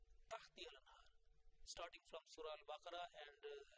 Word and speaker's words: تحتها: this tahti al-anhar, or tahtiha or tahtaha has been mentioned. Now, 34 times it has appeared tahtiha lanhar, the third letter with kasra, tahtiha lanhar, starting from Surah Al-Baqarah,